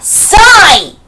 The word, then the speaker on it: Psy: 자, Psy! P-S-Y. P는 묵음, 소리가 안 나요.